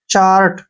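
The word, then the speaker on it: cherry: अब जैसे नेक्स्ट है सीच ए आर वाई सी एच ए से बन गया च आर से बन गया र और वाई का उच्चारण यहां ई हो गया चेरी ठीक है ना चेरी मीन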